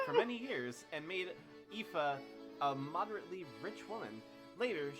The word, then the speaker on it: Aoife: How do you pronounce that name? Aoife.